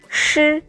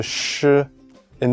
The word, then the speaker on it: shi: The first one, shi. Ah, that's similar to sh in the word shy.